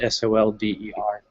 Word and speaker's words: solder: because it was spelled s-o-l-d-e-r the soldier yeah soldier but the l is silent and solder okay this